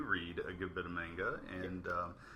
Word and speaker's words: manga: I've had friends that have let me borrow one or two volumes of manga, and mostly what I read was... It's pronounced manga.